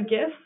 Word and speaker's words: GIF: you can also add a gif or Jif depending access pronounce it those are the little